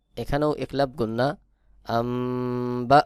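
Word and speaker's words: أَنْبِئْهُم: আমজা জের বি আনবি এখানেও দেখুন নুন সাকিনের পরে বা ইকলাব গুন্না হবে সহি উচ্চারণ হবে আমবি হা মিম পেশ হুম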